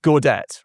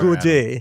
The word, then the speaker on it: Gaudet: So welcome to the show, Mark and Gaudet, right? Yes. And I'm pronouncing it correctly. It's not Gaudet. No, you can say Gaudet too.